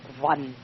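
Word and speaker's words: ظن: And again, the Z is not pronounced as a Z, but it's pronounced as dhann.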